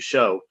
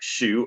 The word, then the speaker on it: show: convey the idea that I pronounce the verb to show like shoe or shoe instead of the proper matter rhyming with so.